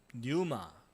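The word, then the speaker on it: πνεῦμα: 그 다음에 영은 헬라어로 뉴마. 예, 푸뉴마라고도 발음하기도 하고 이 피를 묵음으로 뉴마라고 발음하기도 합니다.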